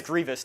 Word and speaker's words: Grievous: Let me know if I do it wrong, but I've thrown in an extra syllable regularly, and I believe it's Grievous now.